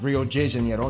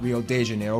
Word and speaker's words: Rio de Janeiro: that's right it's pronounced rio de janeiro not real de janeiro get it right we're not in mexico this is portuguese not spanish this was done in